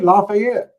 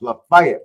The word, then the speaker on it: LaFayette: You know, the first time I ever saw Lefay, I was like, "Hey, Lafayette. That's just like Louisiana." No, it's pronounced Lefay.